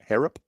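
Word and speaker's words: Harrop: Uh Jack Horrop, spell it. H A R R O P. Herup.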